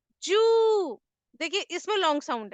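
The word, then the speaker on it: 十: 10 को जापानीज में बोलते हैं जू। देखिए इसमें लॉन्ग साउंड है। अब लॉन्ग साउंड को डिनोट करने के लिए मैंने यहाँ पे हिंदी में डैश कर दिया है, ताकि देखिए जैसे अब मैंने जू लिखा है, ठीक है, अगर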